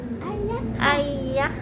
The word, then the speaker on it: ไอยะ: ก็ กำลัง เขียน ชื่อ ไอยะ ดี จริง ๆ ๆ เนี่ย ต้อง ออก เสียง ว่า ไอ้ ยะ ค่ะ ขอ วิธี ไอยะ คือ ไม่ ใช่ ไอ้ เงี้ย ไม่ ใช่ คำ ว่า ไซต์ ไอยะ ค่ะ อะไร เงี้ย เอ้อ ยิ่ง